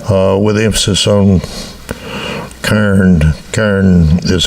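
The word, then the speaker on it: cairn: But yeah, there there are still it's called a Karen like like the woman's name Karen. Karen uh with emphasis on Kairen. Karen is how it's pronounced.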